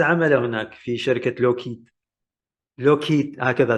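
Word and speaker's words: Lockheed: لوكهيد هكذا تلفظ.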